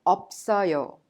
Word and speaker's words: 없어요: When you pronounce them, you pronounce the first one as it is, and the second one is prolonged to the next syllable or vowel.